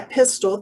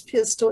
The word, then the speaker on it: Pistole: this is that louise pistol am i pronouncing your last name correctly yeah pistol the e is silent it's louise pistol exactly and that that